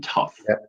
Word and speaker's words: tough: okay so for example the GH in tough right that's a killer right because it it's pronounced like an F like come on what